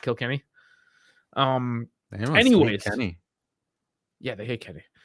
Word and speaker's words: Kilkenny: kill Kenny so I know some people call Kilkenny it is actually pronounced Kilkenny um yeah they hate Kelly yeah so turns